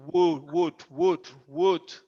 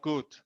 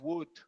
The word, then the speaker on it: would: Very good, but only the pronunciation of wood is wood, not good. Good is bueno, wood.